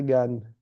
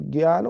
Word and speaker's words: ज्ञान: इस प्रकार से हिंदी में देखेंगे तो ये जो ज्ञ शब्द, जो ज्ञान बोलते हैं हम, ज्ञानी बोलते हैं, जय और अय से मिलके बना होता है।